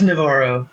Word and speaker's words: Navarro: It's Navarro. Navarro. Yeah, you got to roll the Yes. R's, right? You got to roll the R.